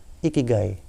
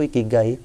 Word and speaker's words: ikigai: terkait Apa sih itu ikigai ikigai kalau dalam definisi aslinya itu berasal dari kata iki dan Kai bacanya gy itu berasal dari Jepang